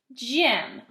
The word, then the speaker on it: gym: class like the gymnasium this is the word gym listen to the beginning Jim it sounds like it's a J but it's a soft G okay another soft G